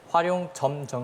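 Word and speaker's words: 화룡점정: 다시 한번 화룡 정점 화룡정점 틀렸습니다 자 정확한 발음을 홍석현 학생 활용 점정 있니다 활용 점정 정답입니다네 정확한 발음 활용 정이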